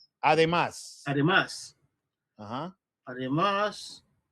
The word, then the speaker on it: Además: Oh, edema. Además.